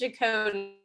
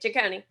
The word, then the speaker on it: Jaconi: My last name is Jaconi. That's how you say it, Jaconi.